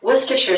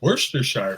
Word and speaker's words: Worcestershire: Worcester is pronounced Worcester, so Worcestershire.